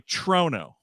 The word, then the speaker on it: Toronto: Trigger Chrono Chrono so instead of Chrono say trono trono that's how you say the city name